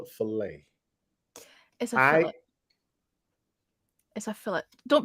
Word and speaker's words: filet: command fill it sounds like the tea is silent for the accent over